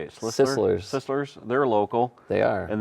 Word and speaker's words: Sisler's: Sisslers.